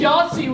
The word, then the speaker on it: Yahtzee: and Jake I think Yahtzee was gonna be in oh yeah it rhymes with Nazi I well I don't